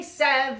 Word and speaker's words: sev: of Music Theory program we say Sev instead of seven because it's the only one of the numbers it has two syllables so seven is officially Sev um but besides that